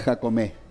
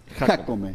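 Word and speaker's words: Jácome: No es Jacomé. Jaome con acento en la A.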